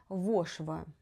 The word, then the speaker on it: вошва: Одного дня в Леї як засвербить голова, та оселилася маленька вошва. Вошва. Правильно наголостаю.